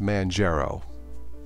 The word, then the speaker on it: Manjaro: he's mine har oh I'm pretty sure it's pronounced Manjaro so no arch for me